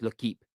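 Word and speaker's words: L'Équipe: L'Equipe, I think it's pronounced L'Equipe. I call it L'Equipe. I've been told it's L'Equipe. It's pronounced. They have stated this.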